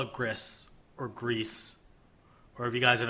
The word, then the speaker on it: Gris: I mean I can I think it's pronounced GRE it's pronounced gree according to Google Translate so if they're Spanish it's gree which means gray like it does in French but in French anyway um so this is a